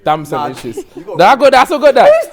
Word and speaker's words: Damson Idris: Samson Idris. That's a relegate. Samson! Sam Idris. You're right, but it's Damson Idris. Damson Idris.